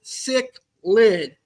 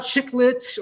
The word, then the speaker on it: cichlid: pronunciation of cichlid is cichlid. They are cichlids, not chiclets or chicklets or anything like that. It is cichlid. Cichlid. So think of the word sick and lid, and you'll be able to pronounce the word cichlid.